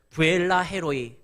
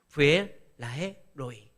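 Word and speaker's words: 브엘라해로이: 아까 뭐라고 했냐면 그러므로 그 샘을 브엘라헤 로이 이렇게 읽었는데 브엘라헤 로이 이렇게 읽으면 안 돼요. 두 자씩 끊어서 읽어야 돼요. 브엘라헤 로이.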